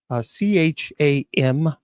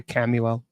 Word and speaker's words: Chamuel: Chamuel. Yeah, there are many different pronunciations of her, but Chamuel. Some people say Camuel.